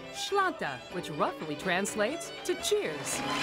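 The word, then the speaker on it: sláinte: a gaelic word you have to learn it's pronounced shlanta which roughly translates to cheers here's a tip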